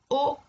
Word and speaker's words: au: Il s'écrit AU, mais il se prononce O.